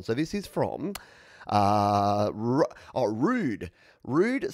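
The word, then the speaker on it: Roux'd: to this one so this is from uh rude rude spelt uh let's bring up the screen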